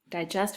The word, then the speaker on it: digest: Digest for an hour. Digest. First syllable is an open syllable. D-I, and then jest, J-est, G-E-S-T.